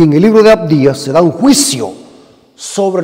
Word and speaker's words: Abdías: el libro de abdías El libro de abdías abdías así se pronuncia es un juicio para esta nación impía